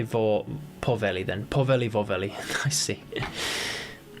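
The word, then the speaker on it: vohveli: And for the record, I don't really it doesn't really mean anything, but rhymes with the Finnish version of waffle, vorveli. Vorveli. I'll say porveli then.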